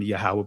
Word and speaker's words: Yahawah: I'm saying Yahawah because that's how it's pronounced or Adon is to be translated Lord and the form God.